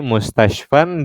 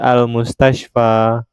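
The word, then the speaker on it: مستشفى: Jadi mustashfan dibaca ketika tidak ada alif lam ya teman-teman, dibacanya mustashfan. Ketika ada alif lam maka tanwinnya dibuang menjadi al-mustashfa.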